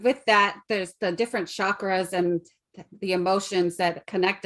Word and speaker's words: chakra: it's pronounced chakra oh like ch cha most people say it as an sh like shock i'm going to do